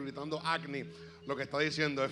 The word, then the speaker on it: Agni: El pastor fue bien enfático en decirnos que se decía Agni. Agni significa fuego. Así que si escucha al obispo corriendo y gritando Agni, lo que está diciendo es fuego.